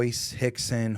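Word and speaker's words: Rickson: the father of ho Hixon hoer I mean they were more Hulker there others but the the most all with RS but it pronounced with an H right right this a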